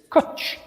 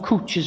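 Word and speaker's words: cwtch: Rhymes with butch. And hut, yes. But it's kut. So it's C. It's kutch.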